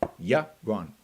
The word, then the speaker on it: Yaron: you don't pronounce it you pronounce my name euron yeah wrong yeah wrong pretty simple yeah wrong all right somebody's asking